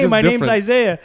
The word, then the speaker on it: Isaiah: Bro, that's like it's not even like, that much easier to pronounce. Hey, it's just my different. Name's Isaiah. It's just hey, worse.